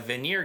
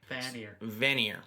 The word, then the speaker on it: Vanir: And it is ruled by a Veneer god Freyer. Vanir. Vanir. Veneer. Veneer. Yeah. Vanir.